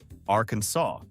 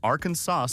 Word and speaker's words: Arkansas: After two US senators argued over the correct pronunciation, the legislature formally declared the only legal way to say it is Arkansas with a silent final s.